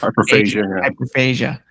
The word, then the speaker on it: hyperphagia: How do you say that? Phagia, I believe. Hyperphagia.